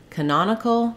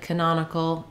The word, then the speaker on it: canonical: be short Canon but when we change to canonical the syllable stress changes and our vowel sounds change now it's our letter A that has the reduced schwa that sounds like uh because we stress on the non-syllable and so um in